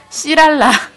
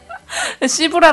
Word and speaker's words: 씨랄라: 발음하기 되게 웃긴데 씨랄라 샤브샤브에서 시브랄 아닙니다. 씨랄라예요. 네, 씨랄라 샤브샤브에서 하고요.